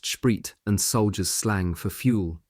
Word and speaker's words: Sprit: Our company wouldn't often get to see such a concentration of standing and presumably unmanned T34s along with a lot of sprit pronounced shrit and soldiers slang for